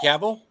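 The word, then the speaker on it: Cavill: away let's see are you talking about Henry caval I got Google and fingers Henry the caval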